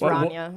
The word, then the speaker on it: Rana: You did say it wrong. It's Rana. It's And I told you that a couple times.